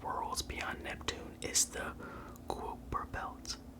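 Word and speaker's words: Kuiper: beyond neptune is the cooper belt cooper rhymes with viper okay so it's wiper belt quite prized with viper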